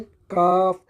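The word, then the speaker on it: calf: सी एल काफ। अच्छा यहां पे एल जो है ना साइलेंट है। काफ ये हो जाएगा काव्स।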